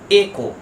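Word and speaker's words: echo: ও এই ওয়ার্ড টাকে অনেক বড় বড় লোক উচ্চারণ করে ইকো বলে বাট এই ওয়ার্ডটার কারেক্ট উচ্চারণ হবে একো একো ward number five D ই এম ও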